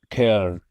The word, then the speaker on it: Köln: Is it pronounced Schoen? Something like this? Köln.